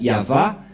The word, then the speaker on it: Yahva: C'est pourquoi il est écrit ici Yahva et son nom.